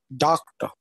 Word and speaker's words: doctor: on a particular syllable, but the actual word and its pronunciation would be like doctor. Okay, doctor. So the first syllable will be here accented.